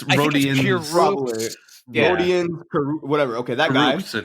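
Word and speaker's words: Rodions: Karis LeVert and forward Rodness Kirkus. Is that how you say his name? I hope it is. I don't know. I definitely think that's wrong. Yeah. Okay. It's 100%. It's Rodian.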